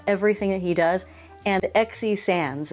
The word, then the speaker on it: XE Sands: And XE Sands, it's spelled XE is her first name. Sands as in like the sands of the ocean.